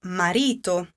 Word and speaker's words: marito: Where does the accent fall? Listen to it again. Marito. You have guessed correctly, it does fall on the second to last.